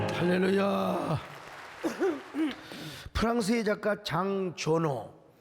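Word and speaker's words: Jean Giono: 프랑스의 작가 장조노, 원래는 우리나라 말로는 장지오노인데요. 우리 프랑스 유학 갔다 온 분이 목사님 그렇게 발음하면 쪽팔립니다. 장조노라고 하세요.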